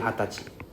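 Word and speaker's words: 二十歳: So 20 we call it okay age 20 we call it hatachi hatach. This is for age 20. Okay we don't call it we use we don't say we say hatachi hatachi means age 20 right.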